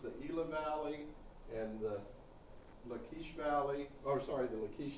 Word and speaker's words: Lachish: Or the Elah Valley, the Guvrin Valley, or Lachish, or Lachish is how it's usually pronounced in English.